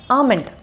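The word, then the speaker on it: almond: எப்படி ப்ரொனவுன்ஸ் பண்ணுறோம் அப்படின்னா ஆல்மண்ட் அப்படின்னு சொல்லுவோம், இல்லைனா ஆல்மண்ட் அப்படின்னு சொல்லுவோம். இங்கே எல் வந்து silent, so இட்ஸ் ஆமண்ட் ஆமண்ட்.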